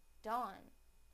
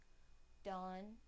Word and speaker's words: dawn: done now the a sound in the word Dawn Dawn Dawn now I will use them both in a